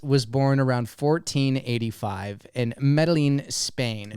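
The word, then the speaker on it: Medellín: Hernán Cortés was born around 1485 in Medellin, Spain. Medellin. Oh, you're right. 2 L's equals a ella. Ella. Hernán Cortés was born around 1485 in Medellin, Spain, to a family of minor nobility.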